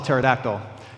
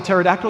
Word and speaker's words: pterodactyl: about how they spell pterodactyl yeah how do you spell pterodactyl yeah the p is silent that's how you spell